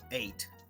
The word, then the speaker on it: ate: Una forma de recordarlo muy fácil sería decir que la E pasa hacia el final, bien, y se pronuncia como el número 8, ate, bien.